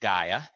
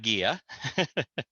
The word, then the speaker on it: Gaia: going to go ahead and first say it's pronounced gaia not guia so now it's okay no worries i'm just